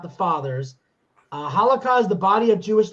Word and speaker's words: halakha: It says in traditional Jewish law, and it says halakha. That's how it's pronounced. That's how it's spelled.